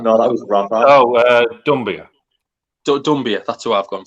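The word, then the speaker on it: Doumbia: I've spelled it wrong, but I've gone for Dombula. I don't know if that's how you say it. No, that was Rafa. Oh, Dumbia.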